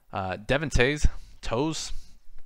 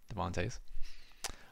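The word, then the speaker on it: Devon Toews: index 7.1 and then a decent drop off Devin tase toes again I don't watch hockey should probably figured out how to pronounce this and I'll do that right now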